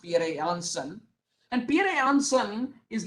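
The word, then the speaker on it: Pierre Janssen: is pierre yang's son that's how his name is pronounced pierre johnson and pierre johnson is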